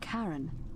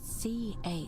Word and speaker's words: Charon: The name you heard wasn't Charon. It was C-H-A-R-O-N, as in Charon, the ferryman of the dead.